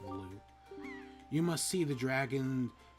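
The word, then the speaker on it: Valoo: High atop the island's peak lives the spirit of the skies, a great dragon by the name of Valu? I think it's actually pronounced Valu.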